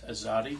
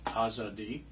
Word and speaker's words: Azadi: Sometimes it's mispronounced as Azadi, but the correct pronunciation is Azadi.